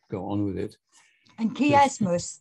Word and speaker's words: chiasmus: And chiasmus, that's spelled K-E-Y, chiasmus.